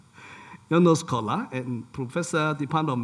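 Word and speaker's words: János: can pronounce it correctly, Janos. Yeah. J would not pronounce as J, it's pronounced as practically Y, right? Janos Kola, and Professor, Department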